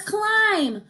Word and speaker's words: climb: go for it so when you have the M and the B together they say the MM sound remember that M sound